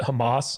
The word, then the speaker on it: Hummus: But hummus, but everyone pronounces it Hamas.